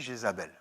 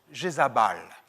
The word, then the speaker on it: Jézabel: Qu'est-ce que ça signifie Jézabel? Je vais vous le dire autrement, Jézabal.